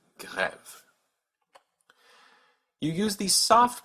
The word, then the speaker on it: grève: So this word is pronounced grève with a hard G, g, grève.